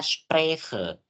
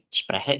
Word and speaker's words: spreche: Lagi-lagi teman-teman kalau ketemu kata yang di dalam kata tersebut ada huruf C, kita nggak baca C-nya. Bukan ich spreche, tapi ich spreche. Jadi langsung ke H-nya, lompat ke H.